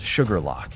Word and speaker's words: Shuqualak: Shuqualak, pronounced sugar lock, is a small town